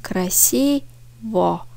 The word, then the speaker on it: красиво: Çünkü красиво. Ama vurgu i'ye düştüğü için красиво diyoruz. Красиво. Yani sondaki o a gibi okunuyor.